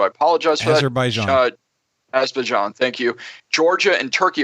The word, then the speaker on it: Azerbaijan: Russia, Kazakhstan, Azerbaijan, and I can't pronounce that right, so I apologize for Azerbaijan. that. Azerbaijan, thank you.